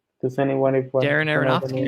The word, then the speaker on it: Darren Aronofsky: I can never pronounce his name. Does anyone if Darren Aronofsky? Darren Aronofsky.